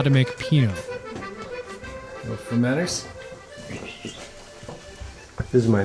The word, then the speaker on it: Pineau: Pineau.